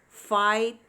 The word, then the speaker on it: fight: Here the letter G, H are silent. We are just pronouncing N-E-I and B-O-U are neighbor. D-A-U and T-E-R. Fight, straight. Okay, so these are here GH is silent.